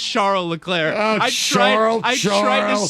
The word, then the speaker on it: Charles Leclerc: Yeah, it's Charles Leclerc. Oh, I tried to spell it so His you'd friends get it call him right.